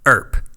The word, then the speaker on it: Earp: Earp. Wyatt Earp. Earp. All right. His name's Wyatt. Sounds like burp. Earp. Wow, you got it. It's only been all I'm doing day. it. I'm doing it. Earp.